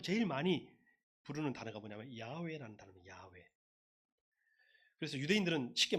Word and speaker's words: 야훼: 근데 이제 후대에 유대인들과 뭐 그리스도교 학자들이 계속 하나님의 이름을 발음하는 것을 찾았어요. 그래서 지금 세계적으로 제일 많이 부르는 단어가 뭐냐면 야훼라는 단어입니다.